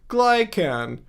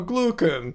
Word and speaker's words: glucan: Glycan. Or, no, glucan.